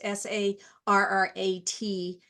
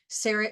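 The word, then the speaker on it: Sarratt: at the um seret I think I'm pronouncing that right it's s a r a t serat Sarat Gallery at Vandy so if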